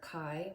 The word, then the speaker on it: chi: a chi square, but it's actually pronounced chi, and it's based on the Greek letter chi, which looks like a cursive X.